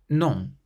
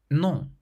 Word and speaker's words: non: Your throat still closes and the sound has to come out through your nose. Bon, bon, meaning good, bon. Non, non, which means no, non.